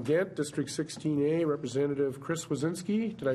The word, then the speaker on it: Swedzinski: All right, another frequent guest from Ghent, District 16A, Representative Chris Wazinski. Did I pronounce that correctly? Wazinski, yes.